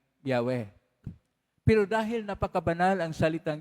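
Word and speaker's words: Yahweh: y he w he ang pagbasa po y hw pagpronounce po yan dah wala wala kasing konsonans kasi at walang tayong makita na bowels ang pagpronounce po diyan ay yahwe pero dahil napakabanal ang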